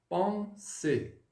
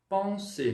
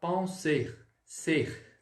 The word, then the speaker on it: penser: vai falar assim, ó, penser, no infinitivo. Ou seja, esse ER aí, você não vai falar penser, ser, tá? Ele não sai. Ele é mudo, misturei o português e o francês.